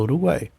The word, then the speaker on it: Uruguai: falo Uruguai eu falo Uruguai como eu falo Uruguai as três ficam na mesma sílaba igual a Paraguai nesse caso aqui o